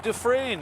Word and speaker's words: Dufresne: Dufresne coming back up I sought help on the pronunciation of Kelsey's last name I'm told Dufresne is the proper way to say that I would have never guessed that based on how it's spelled but it's all good Kelsey dialed 547.